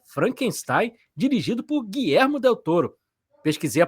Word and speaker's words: Guillermo del Toro: muito barulho aí, que é Frankenstein, dirigido por Guilhermo Del Touro. Pesquisei a pronúncia certa, Jo para falar o nome certo aqui, né?